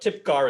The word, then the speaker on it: Typgar: stephanie yeah so uh do i pronounce t-y-p-g-a-r well it's a made-up name so uh you have some license there but tip car is close enough i think car okay i